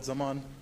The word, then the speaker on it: Zaman: please come forward hello my name is Zaman um wait wait wait would you spell it please KH and no no insult there